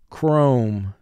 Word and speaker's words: chrome: Chrome. Four sounds. K. R. O. M.